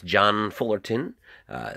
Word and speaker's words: John Fullerton: And that's John Fullerton, spelled like it sounds.